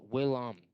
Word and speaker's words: Willem: It's not William. It's Willem. It's Willem. It's not William. He told me when I spoke to him last night. He told me that he did not appreciate people mispronouncing his name.